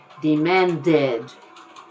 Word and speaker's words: demanded: happiness well good news if the verb in infinitive ends in a death or in the infinitive like decide report record demand then you can pronounce the entire thing demanded report Ted you can say the whole thing go to town with it the side dead man dead demand that you can do